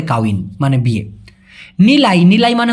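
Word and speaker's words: kahwin: মানে হল বিবাহ হ্যা কাউন মানেও কিন্তু বিয়ে ভাই এখানে দেখুন উচ্চারণটা লিখছে কিরকম মালয়েশিয়ান ভাষায় কিন্তু এভাবেই লেখা হয় সাধারণত কাউন কাহন তবে এই হটাকে ওরা বেশিরভাগ ক্ষেত্রে উচ্চারণ না করে বলে কাউন মানে বিয়ে নিলাই নিলাই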